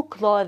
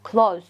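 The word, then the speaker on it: clothes: من الملابس شوفوا هنان مو كلوس كلوس كلوس خطا اوكي كلوز يعني هاي التي اتش ما تلفظ كانه دا اقول كلوز اوكي كلوز يعني معناتها فعل اوكي بمعنى اغلق نفس الشيء اوكي كلوز او مرات اكو قسم يلفظوها كلش خفيفه كلش كلش خفيفه ما تحسون بها فهنان التي اتش متلفظ اوكي كلوز اذا هذا هو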